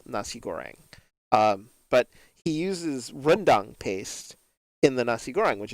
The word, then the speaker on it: rendang: thing and that was his pronunciation of rendang he calls it randang and i don't understand how the hell he pronounces it that way when it's not even anywhere spelled like that because he was making